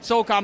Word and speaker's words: Soul Khan: Soulcon, by the way, is spelled Soulkhan.